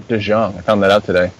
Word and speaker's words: DeJong: I mean, DeJong. Actually, it's DeJong, not DeJong.